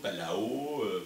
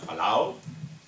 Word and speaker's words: Palau: Donc nous en français on dit Palo, Palo, Palao, Palaba, voilà. Donc on a un peu de mal à le prononcer, Palao, qui va nous présenter